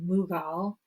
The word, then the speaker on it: Mughal: India and made the Mongol Empire but also pronounced mugal Mongol mugal same group of people just a new pronunciation